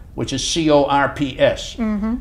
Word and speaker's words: corps: Now, the Air Force is different than the United States Army Air Corps, which is C-O-R-P-S. Mm-hmm. It's not corps, it's corps. No, corps.